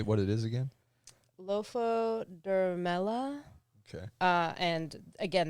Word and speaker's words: Lophodermella: Lophodermella. Okay. And again, that might be a bastard pronunciation of it, but it's LOPHODERMELLA. Have Andrew read it.